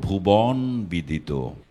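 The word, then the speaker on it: ভুবনবিদিত: প্রথম ব্যঙ্গময় দ্বিতীয়টা বলছি ভুবন বিদিত এটার শুদ্ধ উচ্চারণ হলো ভুবন বিদিত এটা হলো মধ্য মানে বটা মাঝখানে আছে এই ব এর আগে যদি উকার বা ইকার থাকে তাহলে বচ্চারণ করতে হবে মানে ব এর সাথে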